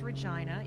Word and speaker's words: Regina: am in Regina right now everyone laughs it's pronounced Regina even though every other day internal Airport